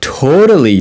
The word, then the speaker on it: totally: Totally, but I can pronounce it like flap D.